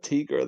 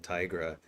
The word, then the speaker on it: Tigra: Because somebody asked me, it's like, why are you saying Tigra? And I looked it up, and officially the creator says it's Tigra, but like I have my limits.